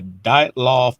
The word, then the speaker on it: Dyatlov: So our next topic is the mystery of the Dyatlov Pass incident.